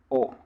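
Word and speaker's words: を: otra partícula es esta la partícula o la pronunciamos o que acá pasa algo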